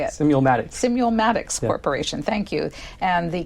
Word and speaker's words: Simulmatics: impact voter behavior, and we learn about the Simultics? How do you say it? Simulmatics Corporation, thank you, and the calculating machine that they use.